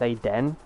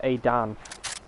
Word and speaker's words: Adan: But I have had a lot of people like pronounce my name as Aden instead of Adan, and it was the same that happened in this live stream that I was watching yesterday.